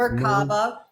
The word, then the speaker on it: Merkaba: I say Merkaba, Merkab. What's the right way to say it? I say Merkaba. It's Merkaba. Merkaba. Merkaba.